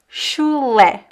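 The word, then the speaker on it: chulé: The pronunciation is shle. because the ch sounds like sh and the last syllable le sh.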